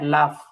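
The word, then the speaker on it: laugh: স্যার এইখানে হচ্ছে যে মাহমুদ কি হাসবে, স্যার হাসবে ইংরেজি উচ্চারণটা আসলে এর কি লাউজ হবে না লাভ হবে? হ্যাঁ, লাফ, লাফ, লাফ হাসা, লাফ।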